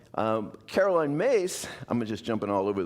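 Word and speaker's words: Myss: Uh but it's pronounced Mace.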